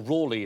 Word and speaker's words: Raleigh: Raleigh lengthened his name, because it was Raleigh and then Rawleigh, or "raw-lay" as you pronounce it.